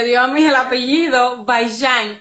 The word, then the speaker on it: Vaillant: ¿Se pronuncia bien tu apellido? Bayán.